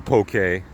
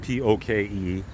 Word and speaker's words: poke: it's been it's amazing just Google poke a and P oke but not poke I had to be